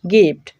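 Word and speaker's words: gift: তবে এর ব্যতিক্রমও পাওয়া যায়, যেমন গিফট, গিভ। দুইটা উদাহরণে জি এর পরে আই রয়েছে কিন্তু এখানে জি এর উচ্চারণ হয়ে যাচ্ছে গয়ের মতো।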